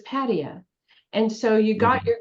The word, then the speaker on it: Pattaya: And cab drivers could not take you to the place you were describing because you had the emphasis on the wrong syllable. It was Pattaya.